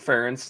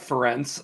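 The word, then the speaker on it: Ferentz: First of all, good job saying Kirk Ference, not Fence as people uh oftentimes mispronounce it.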